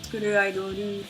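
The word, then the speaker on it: スクールアイドル: Skuru Idoru is just how Japanese people pronounce School Idol.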